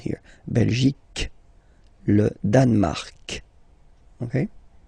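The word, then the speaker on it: Belgique: okay okay Bel okay remember C here you will get only the sound C okay belic belic so it's not belgic not at all okay because it's only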